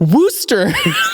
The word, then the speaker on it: Worcester: But he was like, you were like, Worcester. No, they wanted me to say... It'll Worcestershire? No, that's like the phonetic. Yeah, it's Worcester.